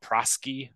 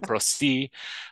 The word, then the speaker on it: Prosci: to be here and our company name has been mispronounced numerous different ways over the years we've been called prosky and the number of times So Pro C uh it's actually interesting